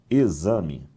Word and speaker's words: exame: Por exemplo, que letra eu tenho aqui? Ah, eu tenho a letra X. Só que essa letra X produz esse fonema aqui, ó. Fonema Z. O som ali é de um Z.